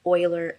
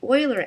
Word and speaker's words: Euler: And you have the choice between quaternion and I believe you pronounce it Euler angles. It looks like it's Euler, but I think the correct pronunciation is Euler. So quaternion, what it does